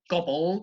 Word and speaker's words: gobbled: And then in the third word, gobbled, stress is on the first syllable again, and you've got the bald as the second syllable.